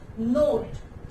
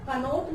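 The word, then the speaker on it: knot: नोट, इसको हम बेटा कनोट नहीं पढ़ेंगे, इसको हम नोट पढ़ेंगे। जैसे एक वर्ड और होता है नो, नो हम पढ़ते हैं, इसको बहुत से बच्चे कनो बोलते हैं। कनो नहीं होता है, केस रिमेन साइलेंट, के साइलेंट रहता है, एंड हम इसको प्रोनाउंस करते हैं नोट।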